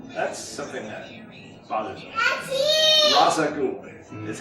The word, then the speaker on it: Ra's al Ghul: so that's great that's something that he father Ra's al Ghul is how it's pronounced do you notice on the show that's